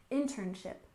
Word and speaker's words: internship: and next we have internship with stress on the first syllable internship internship and this is a